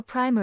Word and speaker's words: primer: Notice how primer is pronounced. Don't mix it up with the kind of paint that's pronounced with a long I sound.